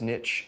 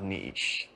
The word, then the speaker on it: niche: nice targeting not bad new guy but it's niche not neat no it's neat to see is silent you don't fit into a leash you